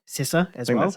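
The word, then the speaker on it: Sessa: that's exactly the same for Dominic C S sisa as well that's how to pronounce yeah for his first role he was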